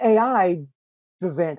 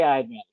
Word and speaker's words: Aidvantage: I've got to say, how do you say AID Vantage, right? Because it's AI Advantage. I just say AI Advantage.